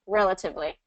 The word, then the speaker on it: relatively: And actually, I love it because relatively, the first time through, I think you stressed the third syllable or something, and then I said it, and then you matched it perfectly to the stress that I used, which was first syllable stress, relatively.